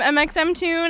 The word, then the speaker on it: mxmtoon: hi i'm mxemtune and you're tuned in to ones to watch you pronounce mxm tune like that i am mxm tune it's really kind of